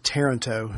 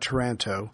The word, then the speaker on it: Taranto: just found out it's pronounced taranto not toronto from a listener who